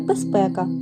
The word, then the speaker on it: безпека: би мовити отзвінчився а слово безпека яке ми пишемо з літерою з вимовляємо і чуємо як безпека бо дзвінки з уподібнився під впливом наступного глухого п до с так би мовити оглушився також буває що звуки